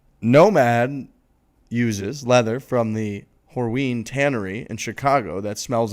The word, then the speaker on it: Horween: mic the first time horween leather no i okay it's a strong first syllable there it is whatever it